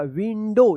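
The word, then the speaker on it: window: लेकिन यहां पे ओ नहीं होगा। यहां पे ओ डब्ल्यू का औ उच्चारण ना हो के ओ उच्चारण होगा। विंडो इसको याद रखिए आप।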